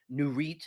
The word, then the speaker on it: Nurit: nurite N RIT T nurite is how you say it nit 2085 they uh